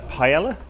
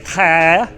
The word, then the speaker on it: paella: We have had paella, or if pronouncing it correctly, paella, followed by a selection,